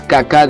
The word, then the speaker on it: caca: y kaká que encierra hay que pronunciar ambas sílabas kaká dentro de la garganta el ya el lago